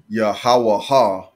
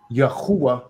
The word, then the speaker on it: Yahuwah: Now, it really should be Yahuwah if we pronounce it correctly, because that should have the U sound and not the Wa sound.